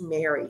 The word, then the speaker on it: MMERI: to it as mmeri and it's pronounced Mary so you may hear